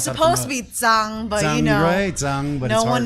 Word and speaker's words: Zhang: I mean you well it's supposed to be Tang but you know no one knows how to pronounce in the US so do you actually